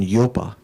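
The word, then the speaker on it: ཡོད: are studying tibetan so you'd say y o d but you don't pronounce the the d at the end okay yo means to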